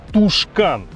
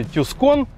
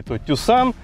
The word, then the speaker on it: Tucson: изменения ударение выбрасывание буквы ну и конечно же неправильно говорить тушкан поэтому если вы испанец вы говорите tuscan если вы любитель хендай туссан ну и соответственно если вы индиец вы говорите тушкан hyundai туссан не так